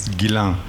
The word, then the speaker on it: Ghislaine: It's a French name. It's Guillain.